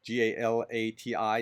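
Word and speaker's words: Galați: in the danube from galat uh g-a-l-a-t-i is pronounced galat it's in romania just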